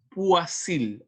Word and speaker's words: Poiseuille: Poiseuille, así se pronuncia esa palabra rara.